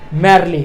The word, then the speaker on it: merely: तरीके से सिख जाएंगे स्पेलिंग कुछ इस तरीके से है एम आई आर आई एल ए सही सुना आपने में आर ए एल ए मार्ले इसकी राइट प्रनंसीएशन होती है और हम इसको